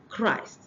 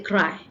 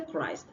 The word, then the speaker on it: Christ: Assume I want to say something like, I want to pronounce this word, Christ. And I say cry. I did not pronounce the last T sound. I'm actually pronouncing something else. And I will be confusing my audience, my listener. So if I want to say Christ, I must pronounce the last consonant. Christ.